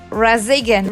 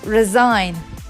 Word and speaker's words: resign: the letters it's G this word is resign resign some say resign razigan really funny to pronounce but it's resign this word is for